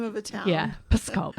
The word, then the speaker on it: Pskov: a little province called Pskov. And it kind of sounds like I'm swearing. I'm not. It's just how you pronounce it. It's the name of a town. Yeah, Pskov.